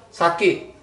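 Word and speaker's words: 先: Bacanya. Saki.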